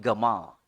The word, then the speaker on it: Jamal: Orang Mesir sebut Jamal jadi Gamal. Gamal berarti Jamal ya.